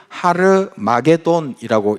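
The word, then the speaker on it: Ἁρμαγεδών: 헬라어로 이것을 하르마게돈이라고 읽고 그것은 히브리어로 마게도는 깃도를 의미하고 하르는 산을 의미합니다.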